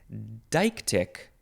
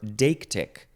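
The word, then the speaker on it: deictic: this episode you the next word is dike tick or daktic so it is spelled d-e-i-c-t-i-c so dike tick is one way and then daktic is the other way and both of those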